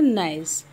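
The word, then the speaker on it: gneiss: Name इसका हम pronounce करते हैं नाइस.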